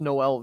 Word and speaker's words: Noelvi: According to Baseball Reference, it is pronounced Noelvi.